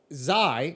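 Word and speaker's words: Xi: bert massey um okay so zy yeah is spelled x-i yeah the president or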